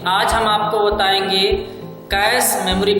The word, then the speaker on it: cache: तो जान लीजिए इसका प्रोनाउंसिएशन कैचे नहीं होता है, बल्कि क्या होता है? कैश होता है। क्या होता है? कैश। देखिए हमने यहाँ लिख दिया कैश होता है। तो प्रोनाउंसिएशन अगर आप सही करेंगे तो ज्यादा मीनिंग उसकी क्लियर हो जाएगी। कैश पढ़ा जाता है, ना कि कैचे।